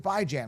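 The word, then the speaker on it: Bijan: are you pronouncing it by Jan because that's how you pronounce it bi as in biweekly and ran as in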